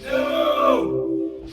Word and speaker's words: Nnooo: So this game comes from a studio called Nnooo, only it's spelled with 5 letters, so it's like... No!